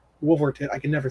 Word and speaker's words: Wolverton: in this is the last story by basil wolvington wolverton i can never say his name basil um